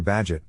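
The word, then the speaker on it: Bagehot: called a bega ocean banking system after walter badgett pronounced badget who wrote lombard street the first description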